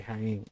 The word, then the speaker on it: Jaén: en la provincia de Jaén. Yo me imagino, reve que se pronuncia Jaén y no Jaén.